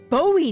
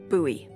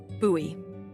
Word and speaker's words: Bowie: out this huge Rusty Bowie knife it's actually pronounced buoy what no it's like the last name like David Bowie different last name buoy are you just messing